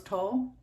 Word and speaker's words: toile: I chose a variety of stamps, including rose toile. Is that how you pronounce that?